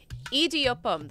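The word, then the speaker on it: idiyappam: Idiopam, that's how you say it.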